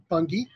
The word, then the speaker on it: Bunge: name is is Bungie uh is pronounced a little strange like it has two E's on the end but uh you can